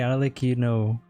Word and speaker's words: Arlecchino: Okay, Arlecchino. So the first time I pronounced her name was right.